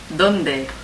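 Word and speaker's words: dónde: Donde. Donde. And I used to remember this by thinking, where is Dundee? Where is Dundee in Scotland?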